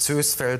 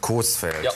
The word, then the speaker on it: Coesfeld: wird im münsterland wie aber es gibt noch das berühmte dehnungs e also das heißt nicht süß feld sondern coesfelder oder soja und alaa